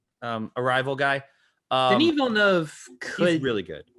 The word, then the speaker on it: Denis Villeneuve: I feel like this is I always pronounce his name wrong. Denis Villeneuve, Arrival guy. Denis Villeneuve he's really good.